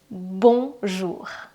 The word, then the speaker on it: bonjour: The sound is here in your nose.